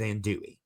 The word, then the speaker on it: andouille: The way I've always heard it pronounced is andouille.